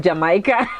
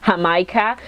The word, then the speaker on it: Jamaica: I used to pronounce it Jamaica, but I noticed that Mexicans pronounce this Jamaica, and this is just a very, very good drink.